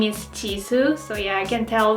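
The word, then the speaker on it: Jisoo: its young members names who is over is Chi su Perseids name is Chi su in Korean t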